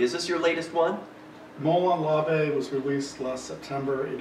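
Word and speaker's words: Molon Labe: i'm holding in my hand a disc for molan labe did i pronounce that correctly exactly excellent and uh tell us a little bit about this movie is this your latest one molon lavey was released last september it is our sixth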